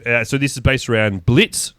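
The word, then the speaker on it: Blitzø: So, this is based around Blitz. The O is silent.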